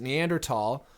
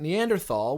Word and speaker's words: Neanderthal: Science Guy the main guy pronounced it neander tall and I feel like that's a detail that wouldn't have escaped Neil's notice and he persisted in pronouncing it Neanderthal which I kind of